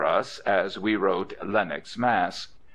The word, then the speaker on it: Mass: as we wrote Lennox Mass she pronounced it not Massachusetts but mass as is not infrequent in the East thank you she said